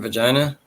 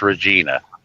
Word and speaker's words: Regina: No, I said I have a friend that lives in Vagina. never heard of it. Regina. It's a small town. Well, yeah. Well, I've heard it pronounced Regina.